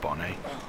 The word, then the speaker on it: Bonnet: his body isn't it it's pronounced Bonnie there we go there's